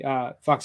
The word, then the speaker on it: PHUX: So, and Fucks is spelled PHUX.